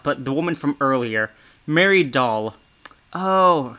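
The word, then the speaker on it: Dahl: the woman from earlier mary doll oh her last name is pronounced like doll because she's almost doll like funny however this is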